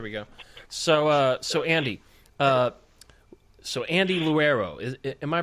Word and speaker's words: Leuro: So Andy, Andy Leuro. Am I pronouncing your last name correctly? No, you're not. It's Leuro.